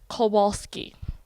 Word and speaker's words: Kowalsky: Hi, my name is with What the Falcon, and I'm here today with the Spirit, aka Trevor Kowalsky.